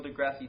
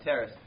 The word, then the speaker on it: deGrasse: Oh, yeah, I say his name wrong all the time. Neil deGrasse Tyson? Yeah. Not Terrace.